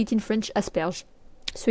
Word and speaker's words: asperge: Asperers.